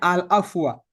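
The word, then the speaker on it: العفو: atau afwan kalau Bu kalau pakai Alif lam bacanya alafwa.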